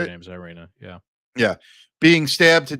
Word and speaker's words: Iryna: Her name's Iryna, yeah.